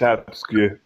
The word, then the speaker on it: Absque: Abskew? It's absque. It's Latin for absent. Okay. Say it one more time. Absque. Abskew. Abs and then Q.